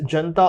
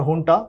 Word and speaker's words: junta: Following Myanmar's, and why this people are coming towards India is also because in 2021 the Myanmar military, called as Junta or Junta, both are correct pronunciations, they have cracked down